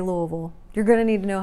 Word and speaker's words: Louisville: louisville louisville or louisville that's how it's spelled but that's not how you say it nope nope nope louisville it is if you say it wrong well no you're not from here so make sure you get it right so you can fit in just say it like you have a mouth full of rocks louisville well check out the